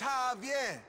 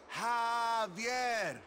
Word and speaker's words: Javier: It's Javier. It's pronounced like an H. Javier.